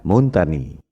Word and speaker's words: Montagnier: Kalau bahasa Prancis, ucapan dan tulisannya memang beda. Bombardier, bacanya Bombardier. Louis Pasteur, bacanya Louis Pasteur. Montagnier, bacanya Montagny.